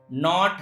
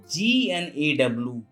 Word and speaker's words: gnaw: F-O-R-E-I-G-N, foreign, G-N-A-W, no. This is not gnaw. Here G has come just before N, it's why G is silent.